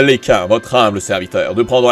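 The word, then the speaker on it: Lekain: Dans ce cas, permettez à Lekin, votre humble serviteur, de prendre la tête de la commission. Et oui, son nom est supposé se prononcer Lekin.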